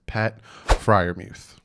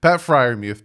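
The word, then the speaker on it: Pat Freiermuth: out of penn state and yes i will pronounce his name right that is pat friarmuth see sometimes i get names right pat friarmuth penn state tight end six foot five 258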